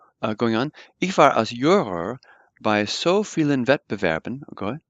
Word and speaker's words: Juror: So I was as a juror, and notice that the J's are pronounced like a Y, so we say juror, or I was as a juror or as a judge, at so many, Wettbewerben is competitions.